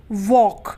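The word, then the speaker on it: walk: है वह साइलेंट है उसी तरीके से व ए एल के वॉक तो यहां पर एल किस से पहले ए रहा है कैसे पहले ए रहा है इसलिए यहां पर एल क्या है साइलेंट है यानी की वो नहीं बोला जा रहा हम क्या बोलते हैं वॉक बोलते हैं हम वॉक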